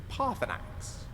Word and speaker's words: Paarthurnax: Paarthurnax. If you need anything else, just ask. I wonder. No, surely not. A ridiculous notion. You think he might be a dragon, Lucian? It's 3 syllables.